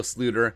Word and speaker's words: Sloter: i can't even lie kyle jerome ezekiel sluter and that's correct dutch pronunciation by the way he's